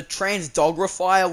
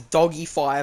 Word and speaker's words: Transdogrifier: anyway I just realized the way to pronounce it is the trans dog Rifai which I thought it was doggy fire for some odd reason but they also added